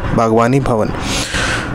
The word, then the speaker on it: Bhagwani Bhavan: i b h a w a i'll again spell it out for you b-a-g w-n-i bhagwani b-h-a-w-a-n bhagwani bhavan so all you gotta do it would do